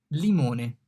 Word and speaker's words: limone: L, limone. The L here is pronounced like L in lemon. L, limone. Lemon, limone.